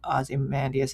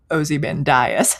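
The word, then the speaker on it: Ozymandias: I always liked it more than than how Aussie Mandas is supposed to be pronounced, but so I prefer Ozen Dias.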